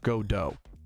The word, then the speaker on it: Godot: Hey Patrouski, it's actually pronounced Godot.